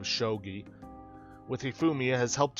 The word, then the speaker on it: shogi: it feel like playing showed you and yes I'm probably gonna keep ending up pronouncing it like that instead of shogi with hee Fumiya has